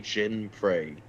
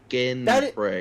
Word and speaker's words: Jinprey: No, it's a hard G. Jinprey? No, hard. Ginprey. That is a hard... That is a hard G. No, you're pronouncing the G like a J. That's a soft G.